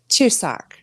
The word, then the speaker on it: Chuseok: So, and what was it pronounced again? Chuseok.